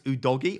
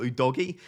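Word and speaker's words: Udogie: Brentford game Henry and apparently it's udogi or udogi people might be off for saying it like that but I think that's how you pronounce it they both looked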